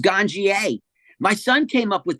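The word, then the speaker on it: Ganjier: wonder how is it pronounced is it pronounced ganir G how is it properly pronounced it it's pronounced ganier my son came up with the name maybe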